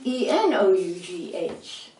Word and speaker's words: enough: have you pronounced t-o-u-g-h-e-s tuff how do you pronounce e-n-o-u-g-h enough how do you pronounce t-h-r-o-u-g-h through what